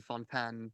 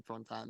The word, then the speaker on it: Fontaine: my my free associations wondering about the word Fontaine are we supposed to think of fountain or French Fountain and they mispronounce it's obviously Fontan they it's pronounced actually Fontan but they say weird localization and I believe